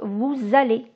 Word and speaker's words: vous allez: Quand je prononce vous isolé, je ne prononce pas le S, par exemple. Mais cette consonne est prononcée dans l'énoncé quand le mot suivant commence par une voyelle. Donc aller commence par une voyelle et donc vous allez. Et j'ai le son Z qui fait la liaison chez vos amis.